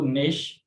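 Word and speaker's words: gnash: इस तरह से ये फीन है और इसको नेश पढ़ा जाता है, इसको नेट और इसको नाव पढ़ा जाएगा, यानी सब में जो जी है वो साकिन रहती है।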